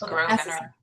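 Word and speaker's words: Grosvenor: The S is silent. So, it's Grovener. Grovener. Okay. Where is Grovener Gardens located?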